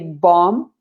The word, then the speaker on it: bomb: with letter b so we say bom bomba instead of saying the the b is not pronounced the last b the